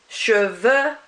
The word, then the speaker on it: cheveux: Rather than an X or X or anything like that, you do not pronounce that X at all. So it would be heureux, cheveux, and yeux.